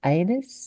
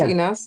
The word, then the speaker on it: Inas: properly but I believe anus. Have I got that correct? Anus. Is that correct? Over to you anyway. Hi. No, my name is Enas. It's pronounced inas.